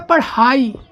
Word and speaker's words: पढ़ाई: ये लिखा पढ़ाई, ये लड़ाई। क्या लिखा है, ये लिखा लड़ाई, ये लिखा पढ़ाई। अब यहाँ पे पढ़ाई, तो यहाँ पे देखो हा प्रोनाउंस हो रहा है ना, पढ़ाई।